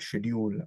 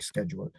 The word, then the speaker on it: schedule: और जो आपका शेड्यूल होता है, उर्दू में भी शेड्यूल लिखते हैं उसको, उसको British is pronounce eight शेड्यूल, but Americans do इट स्केड्यूल.